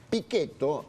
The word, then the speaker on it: Pichetto: Mirá, a ver, Pichetto, vamos a pronunciarlo en tano porque yo soy Sí. calabrés. Pichetto es un hombre que